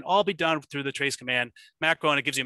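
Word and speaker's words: trace-cmd: So the main thing is tracecmd, or I pronounce it trace command.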